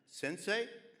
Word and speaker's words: Sensei: years ago you referred to me as your Sensei did I say it right yes okay being